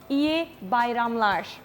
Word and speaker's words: İyi Bayramlar: It is İyi Bayramlar.